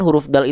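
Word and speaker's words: دال: dengan huruf D tapi patokan huruf Dal adalah sesuai dengan kaidahnya kita Ingatkan lagi setiap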